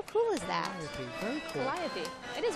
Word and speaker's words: Calliope: Calliope. Calliope.